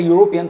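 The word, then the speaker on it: European: आप जब यूरोपियन जब आप प्रोनाउंस कर रहे हैं, इस शब्द को जब आप प्रोनाउंस करें यूरोपियन तो आप यूरोपियन के लिए जो यू है कुछ इस तरीके से लिखेंगे। तो जो पहला लेटर है वो क्या है? यह वोवेल तो है नहीं।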